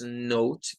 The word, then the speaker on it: note: Bueno, en la primera palabra, que es note, que sería como la primera sílaba, es de estas palabras que terminan en E, la E no suena, y esta O va a tener su sonido largo.